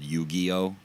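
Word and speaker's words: Yu-Gi-Oh: kids are into this I'm gonna pronounce it right this time although I normally pronounce it wrong on purpose it's called yugioh yugioh like pokemon or something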